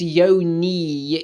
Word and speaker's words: yoni: this okay let's read yoni pronounced yo knee is the sanskrit word